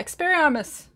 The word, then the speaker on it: Expelliarmus: Yeah, Expelliarmus. See, anyway, I feel like I'm missing an L. Like, I need to be pronouncing the L's a little bit more.